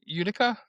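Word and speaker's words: Utica: Udica.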